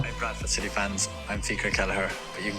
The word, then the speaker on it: Fiacre Kelleher: have tweeted out actually a video how he pronounces his name. So I'll just quickly play that now. Hey Bradford City fans, I'm FIACRE Kelleher, but you can call me Kells, and I